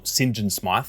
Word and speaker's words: St. John Smythe: didn't realize initially but St. John Smythe or Sinjin Smythe as it's pronounced in this game is a throwback to